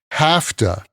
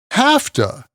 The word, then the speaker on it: have to: by a verb and the usual pronunciation is ha to ha to I have to work